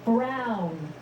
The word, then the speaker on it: Brown: to a t that's emmett brown rhymes with clown which i'm beginning to